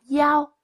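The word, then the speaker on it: 幺: Hãy chú ý số 1 trong cách đọc số điện thoại, số phòng. Thường đọc là yao thay vì y.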